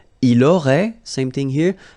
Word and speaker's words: il aurait: Il aurait, same thing here, final T is not pronounced, elle aurait, okay?